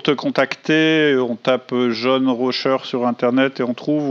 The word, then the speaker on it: Rauscher: Ok, et pour te contacter, on tape John Rocher sur Internet et on trouve, ou comment ça marche ? Alors sur LinkedIn, c'est mon réseau préféré, LinkedIn, et Rocher, ça s'écrit R-A-U-S-C-H-E-R, okay. Et John, c'est le prénom